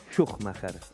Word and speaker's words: Szuchmacher: en españa por ejemplo éste ha sido correctamente pronunciado schumacher así es ahora el corredor y de otra